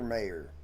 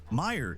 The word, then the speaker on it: Oscar Mayer: The confusion comes from Oscar Mayor. It's Oscar Meyer Weiner, not Mayor from the pronunciation. Meer is how it sounds.